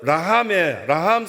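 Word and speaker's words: רחם: 그걸 라함이라고 히브리어로는 발음합니다. 라함. 그 라함 속에 그 엄마의 뱃속에 아기를 담고 있었던 그 기관에서 에스도 나오고요.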